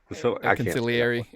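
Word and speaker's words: consigliere: Conciliary.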